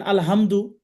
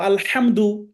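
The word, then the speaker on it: الحمد: প্রশংসা আল্লাহ তাালার জন্য যদি আপনি ভুল করে এখানে যদি ওই ছোট হা দিয়ে বলেন আলহামদু তাহলে অর্থ সমস্ত নোংরা পচা সব আল্লাহর জন্য নাউজুবিল্লাহ এভাবে যদি বলেন তাহলে আল্লাহ আমাদের উপরে কি খুশি হবেন নাকি বেজার হবে আল্লাহ বেজার হবে আপনাকেও যদি কেউ মানে নোংরা কিছু দিতে চায় আপনি তো রাগ করবেন তাই না তাহলে আমরা শুদ্ধ করে বলব আলহামদু আলহামদু খাইরিন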